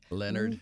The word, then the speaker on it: Lynyrd Skynyrd: Skynyrd on it because I call you Leonard Skynyrd and Jim says Leonard Leonard which is correct Leonard I say it both ways myself sometimes what you say I actually pronounce the D yeah in Leonard so do I we